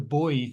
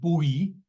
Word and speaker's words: buoy: the boy has uh buoy um I know you Americans are very fond of the of the pronunciation buoy but if you're going to do that you have to say that people are bullant and that um it's